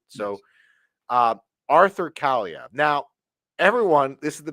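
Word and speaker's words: Kaliyev: the Los Angeles Kings Arthur CV yes and I am pronouncing that right because I had to make sure that I was going to pronounce it right so uh Arthur CIA now everyone this is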